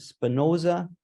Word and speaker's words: Spinoza: recently in Jerusalem he's writing a book called Spinoza and thinking is that did I say it